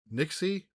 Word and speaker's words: NYXI: I haven't had a chance to play much of it yet, but this is the Nixie NYXI. I hope that's how you pronounce it.